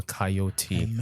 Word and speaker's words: Kyeot: Looking forward to the evolution of Joshua KYEOT, and I've finally pronounced it correctly, guys.